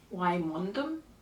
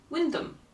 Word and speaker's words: Wymondham: If you read this book, how would you pronounce the name of this place? Wymondham? No, Wyndham.